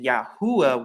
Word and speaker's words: Yahuwah: from right to left you once again get the pr pronunciation yahuwah once again and it's the same